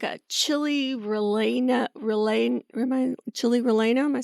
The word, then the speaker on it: relleno: It's like a double L sort of thing. Relleno.